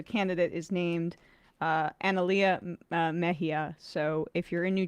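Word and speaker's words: Mejia: So, um the candidate is named uh Analia Mahia. So, if you're in New Jersey, go out tomorrow and vote for her. How do you spell that? Mahia.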